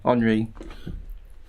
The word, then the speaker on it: Henri: French pronunciation, yeah, Henri.